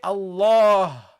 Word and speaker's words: Allah: Okay, there is alif in pronunciation, not in writing. We never write this with lafdul jalala, but we pronounce it always. We say Allah. You see, we prolong Allah. We prolong the fatha.